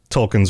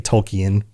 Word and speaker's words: Tolkien: And that makes a lot of sense because there are a lot of themes in Tolken's works, right? And I say Tolken, it should be Tolkien, but please forgive me on any of my pronunciations.